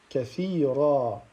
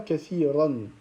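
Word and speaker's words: كثيرا: Donc on dira kathira, kathira. On ne dit pas kathiran. D'accord? On ne prononce pas le tanwin si on s'arrête sur ce mot-là. Mais plutôt, on va prononcer une fatha qu'on va allonger.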